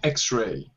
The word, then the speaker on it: X-ray: Yeah, it has a vowel sound, yeah? Yeah, vowel sound, yes. Yeah. So this word X-ray begins with a vowel sound, even though it's a consonant letter itself, but the